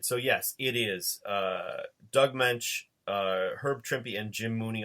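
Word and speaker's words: Moench: And all the I don't want to say the old guys, all the veterans that I know pronounce it Munch.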